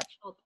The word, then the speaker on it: Schulp: Schulp. Don't you hate? Oh, I love like pronouncing words that you've never heard said out loud.